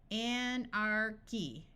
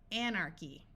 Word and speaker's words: anarchy: have some more words where CH sounds like the letter k Anarchy Anarchy Alchemy Alchemy Anchorage notice that